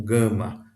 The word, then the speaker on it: gama: Então, se aparecer o gama com uma vogal, ainda que essa vogal seja uma vogal com um som semelhante ao nosso i ou nosso e, o som sempre será de G como na palavra gato. A outra letra, a próxima